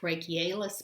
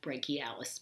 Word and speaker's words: brachialis: being done by the muscle behind the biceps called the brachialis sometimes pronounced brachialis but i like brachialis better so the brachialis underneath